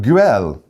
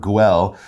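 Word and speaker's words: Güell: park guell wow um sometimes you see it the u has those two dots on the top like if they use in german so it's kind of an unusual pronunciation but something close to grill all right we're gonna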